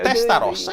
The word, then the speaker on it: Testarossa: You pronounce Testarossa, okay. Testarossa, it's good.